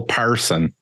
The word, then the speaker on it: Persson: pretty good person not person just say Carl Parson I think you nailed it right good job